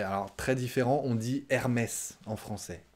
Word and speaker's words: Hermès: hermès hermès très différent vous prononcez le h la première lettre we aim is remise ah ouais alors très différent on dit hermès en français hermès la huitième c'est aïda